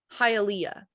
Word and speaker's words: Hialeah: It's Hialeah.